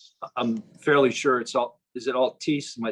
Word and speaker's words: Altice: I'm fairly sure is it Altice? Am I saying it right, Kim? It's Altice.